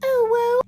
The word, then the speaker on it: OWO: But the fact that this poor governor was not told by anyone on his team how to correctly pronounce OWO, which is "oh woo," this isn't just a saying.